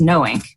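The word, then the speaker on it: KNOWiNK: by a former election official that it is knowing what will you spell that because it's it's kind of a sure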